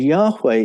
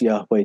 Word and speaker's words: Yahweh: And embedded in the Yahweh name are these two H's, a sound, which is almost silent the way we pronounce Yahweh today.